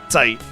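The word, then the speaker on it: Zeit: Site. So Z in German is pronounced like a TZ. So T kind of like that. So Tight is his name.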